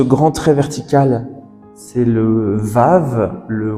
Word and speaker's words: Vav: Le troisième, ce grand trait vertical, c'est le Vav, le Waw, donc on prononce Oué ou V.